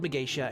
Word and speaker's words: Magatia: also know it as you might see it as spelled like magatia but it's called Misha and this is the